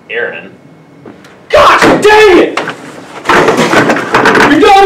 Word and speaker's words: Aaron: now you better be sick dead or mute a Aon here uh why didn't you say it the